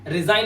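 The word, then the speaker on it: resign: आपको जॉब पसंद नहीं आ रही है कि वजह है आप कंपनी में रिजाइन लगा देते हैं। वो वर्ड है रिजाइन। यहां पर जी साइलेंट है।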